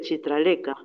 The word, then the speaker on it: Chitralekha: Me dio el nombre de Chitraleka, que se pronunciaba con la CH de Chile.